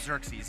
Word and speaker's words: Xerxes: Is that how that's pronounced? That's Chef Xerxes, right? Chef Xerxes, yeah.